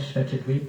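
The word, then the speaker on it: Svitavy: Where that town is, Shvetadweep, how do you say it? I call it Shvetadweep. Huh? Svitavi.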